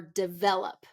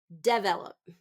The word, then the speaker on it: develop: is commonly mispronounced so it should be development or develop develop so second syllable stress and I hear frequently develop develop where it's first syllable stress now we don't want that we want second syllable stress develop he is working